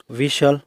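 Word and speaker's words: whistle: एस के बाद अगर टी हो तो टी साइलेंट रहता है। जैसे कैशल, विशल।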